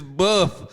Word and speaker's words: LaBeouf: last name is it's not Boof, it's Buff.